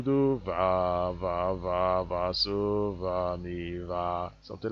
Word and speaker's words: so: F is pronounced fa, S is pronounced so, like as if you are sewing a piece of cloth, something like that.